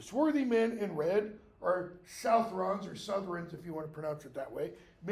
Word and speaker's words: Southrons: The swarthy men in red are Southrons, or Southrons if you want to pronounce it that way, men from the far south who are now fighting up in Gondor, Ithilien at least.